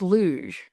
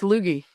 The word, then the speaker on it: luge: And this guy walked up behind us and he said, "I believe it's pronounced luj." And the man standing next to me, he said, "No, no, no. It's Lugie."